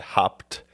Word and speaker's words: Haupt: Haupt. I always hear you pronounce it correctly.